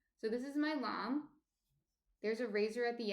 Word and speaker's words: lame: Yeah, it's spelled lamb like lame. Yes. Thank you, Yursi. Yes, it's spelled Lame. It's a French word, which is why it's pronounced funny and spelled funny.